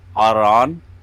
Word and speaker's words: Aran: And that one is spelled A-L-O-R, Beton, A-D, Alorad. We have guard, Aran, A-R-A-N, Aran for guard.